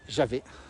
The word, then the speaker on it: Javen: Et la vraie prononciation locale, c'est Javet, mais tout le monde dit Javennes aujourd'hui. C'est Javet, cette prononciation locale.